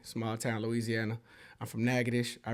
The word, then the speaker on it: Natchitoches: town Louisiana I'm from nages i r heart you know what I'm saying everybody know that Nick braen is from nages it's spelled crazy you can't read it it's hard it's hard n a t c